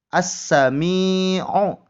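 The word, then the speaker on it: السَّمِيعُ: Maka bacaannya alif lamnya tidak dibaca. Maka contoh bacanya seperti ini. As-sami'u. As-sami'u. As, alif lamnya dianggap tidak ada.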